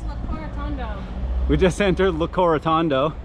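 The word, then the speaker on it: Locorotondo: We're how to say this town's name is Le Corotondo. Le Corotondo. I've been saying Le Cocorondito. Which is definitely not right.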